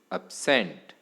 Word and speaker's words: absent: Here the second syllable is more prominent than the first one and hence second syllable receives stress. That is, the second syllable should be pronounced louder and longer with a higher pitch and breath force.